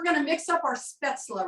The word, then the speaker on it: spätzle: So on our spätzle, you notice I'm saying spätzle. The recipe, it looks like spatzel, and that's what we might call it in Kentucky, right? That's what I call it, but that's the real pronunciation is spätzle.